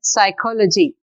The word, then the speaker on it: psychology: is only talk here in this next word psychology we are not pronouncing p in thumb we are